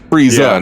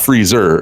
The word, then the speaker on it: Frieza: for himself that's why he's Frieza not freezer yeah Christ Jason that